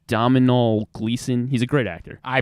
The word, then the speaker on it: Domhnall Gleeson: I can't really pronounce his name. It's Domhnall Gleeson.